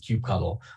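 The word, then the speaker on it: kubectl: speakers calls it Cube CTL the other calls it Cube cuddle like people can't agree the community cannot agree on a unified name for this tool um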